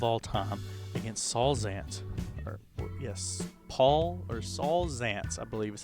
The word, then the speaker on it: Saul Zaentz: Saul Zaentz, I believe is how you say his name,